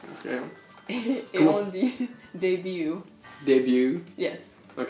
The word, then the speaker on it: début: on dit début.